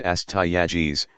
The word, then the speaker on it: Astyages: Their last two kings were Cyaxares and Astyages, pronounced Cyaxares, and Astyages, who are mentioned in the Babylonian chronicles.